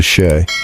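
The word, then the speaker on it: 四: This goes back to Japanese customs and beliefs because the number 4 is pronounced in a way that's really similar to she, which means death.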